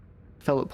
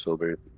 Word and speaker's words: Filbert: missing uh filbert H Philip h filbert filbert filbert I like filbert better I like pH but written down Philip because I thought that was realistic I think the proper pronunciation as filbert I bet he was